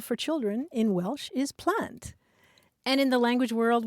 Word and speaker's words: plant: I didn't either but the Welsh word for children is plant p l a n